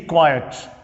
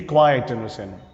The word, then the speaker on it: quiet: Be quiet. Be quiet, You know perhaps how to pronounce these words. Quiet. Quiet. Quiet. Quiet. It's a long vowel.